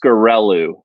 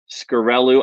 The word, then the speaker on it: Sciaccarellu: I think it's Sciaccarellu. Sciaccarellu, I think is how you pronounce that.